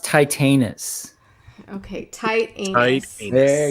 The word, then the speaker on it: Titanus: first Power titanus you guys keep talking it's pronounced titanis okay tight anus tius there you go tius